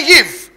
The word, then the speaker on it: ewe: EWE, यीव, उसका pronunciation है यीव, EWE, यीव।